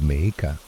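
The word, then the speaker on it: Mexica: El pueblo Meshica, pronunciado Meeka, tenía pirámides, enormes ciudades y rituales que impactaron y fascinaron a los españoles.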